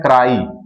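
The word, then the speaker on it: cry: सी आर वाई यहां लिखा हुआ है। तो इसका हम प्रोनाउंसिएट करेंगे जब तो इसको पढ़ते हैं क्राई। इसका प्रोनाउंसिएट करेंगे तो क्या पढ़ते हैं? क्राई। जबकि वाई का जो साउंड होता है वो य से निकलता है।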